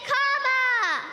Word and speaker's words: Kamala: First, you say comma like a comma in a sentence. Then you say la like la la la la la.